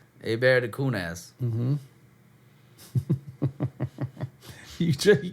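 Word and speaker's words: Hebert: Abear. It's spelled Heert. A lot of people don't know that. That's a bear.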